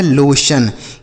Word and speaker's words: लोशन: उसके बाद एल ओ से पढ़ेंगे लो और टी आई ओ एन को सन। तो यह लिखा गया है लोशन।